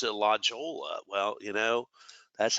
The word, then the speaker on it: La Jolla: the road diet project that took place in La Jolla Boulevard now you might say well ray last time you pronounce it la jolla well you know that's how we say it